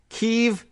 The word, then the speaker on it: Kyiv: Kyiv, as in key. Ev is the Russian pronunciation.